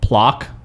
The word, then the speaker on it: Plok: We talked about this comic that was coming out about the Super Nintendo game Plok. I'm going to spell it again because it's really hard to hear.